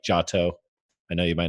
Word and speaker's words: Giotto: very famous people like Giotto. I know you might not know that one, but Giotto, he taught. I believe it's pronounced Johto, and that was the first region in the original Pokemon games.